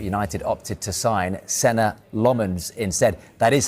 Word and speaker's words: Lammens: the window, but United opted to sign center Lmens instead.